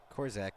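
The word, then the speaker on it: Korczak: Maverick Kaden cor corac corac yeah that's how you say it Kaden corac with no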